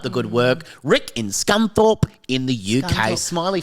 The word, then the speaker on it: Scunthorpe: called, and I hope I get this right, Scunthorpe. Scunthorpe. Have you heard of that? Scunthorpe. What a great name. Yeah. Great pronunciation of H from you, Sammy, by the way.